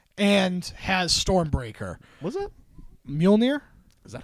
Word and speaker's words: Mjolnir: Mjolnir?